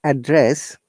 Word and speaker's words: address: you look what's your address when you're saying address did you notice the differentiation address and address this is actually a matter of pronunciation or the tone where you have to